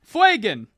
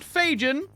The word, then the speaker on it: Fuegan: Fuegan. FWAY-GUHN. Fuegan. Not Fajan. Like Reagan. Not Reagan. Fuegan.